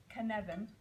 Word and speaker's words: Cynefin: a Welsh word um and it's spelled it looks like cnan so don't look at it when you say it or you say it wrong it's Canan it still takes years